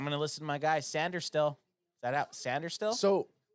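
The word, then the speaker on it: Sainristil: says and it's pronounced sander still sander still that's insane that that's how that's pronounced there's no D in it yeah and I can't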